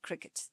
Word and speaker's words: Cricut: Cricut, they call it cricket, but it's spelled with a U, so I don't know why they call it cricket.